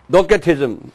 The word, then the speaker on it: docetism: Now uh second heretic teachings is docetism or dosetism. Docatism C pronounced K just like Macedonia.